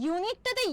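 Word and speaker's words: unique: কিন্তু ইউনিকটাতে ইউ থাকার পরেও কিন্তু সাউন্ডটা কি হচ্ছে? ইউনিক। ইউনিক ওয়াই দিয়ে স্টার্ট হচ্ছে না সাউন্ডটা? ইউনিক, তাই না?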